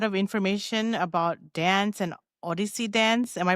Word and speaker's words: Odissi: I think you gave a lot of information about dance and Odyssey dance. Am I pronouncing this correctly? Yes. Yes, absolutely. Odyssey.